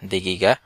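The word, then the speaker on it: دقيقة: অপেক্ষা করুন সেক্ষেত্রে লাহজা দিগিগা লাহজা দিগিগা লাহজা দিগিগা তো এই কাফের উচ্চারণটা হবে গ এর মত সাউদি এবং কুয়েতি দুটিতেই এই উচ্চারণটা গ এর মত হয়ে থাকে কাফের উচ্চারণটি লাহজা দিঘিগা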